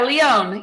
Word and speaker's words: Leon: And with my guest, is it Leon? Is that how you say it? Yeah, Leon. Yeah.